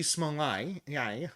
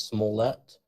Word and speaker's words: Smollett: I just think of it as Smollett, a bit like Manlet.